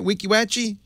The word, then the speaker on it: Weeki Wachee: is that right am I saying it right Weeki Wachee you certainly are yes that's because Kim spelled it phonetically for me Gary it's an old Indian